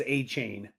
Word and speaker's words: Achane: The Dolphins told us that we needed to pronounce it as Achane. So who knows where this is coming from. But to me, Achane sounds too much like 8chan.